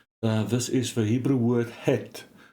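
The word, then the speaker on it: חית: This is the Hebrew word het, not het. It's het. So it's a deep H, similar to the way that similar letters are pronounced, for example, in Arabic.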